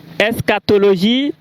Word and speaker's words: eschatologie: Escatologie.